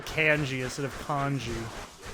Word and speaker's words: Kenshi: Until MK9, Kenshi was ass. Sorry, Kenshi. You might mistake I don't know why I'm calling him Kenshi. It's actually pronounced Canji, you know? Like, can you pass me a can, G?